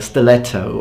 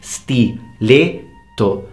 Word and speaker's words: stiletto: you you butcher you butcher it when you pronounce it in Italian it's like stiletto or something like that but in Italian it's stiletto stil all right so um continuing a uh